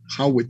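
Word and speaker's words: Jawetz: médica de house waits höwedes con j hawit se pronuncia b ese es el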